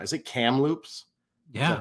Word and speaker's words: Kamloops: Is it Kamloops? Yeah. Is that how you say it? Kamloops.